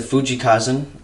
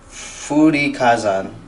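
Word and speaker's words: 風林火山: As you can see right here is a Fuji Kazan. I totally butchered that. Sorry, my 2 years of Japanese in middle school. Furin Kazan kanji, and written on it is wind.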